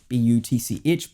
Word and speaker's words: Butch: My previous dog, a black Labrador called Buch. B U T C H. Probably pronounced Butch in other regions. I don't really like the pronunciation that we have over here.